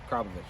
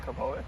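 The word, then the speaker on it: Akrapovič: Yes, Akropovic. It's not Akropovic?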